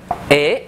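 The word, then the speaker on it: へ: Ế, ta đọc là ế nhá, ta không đọc là hế đâu.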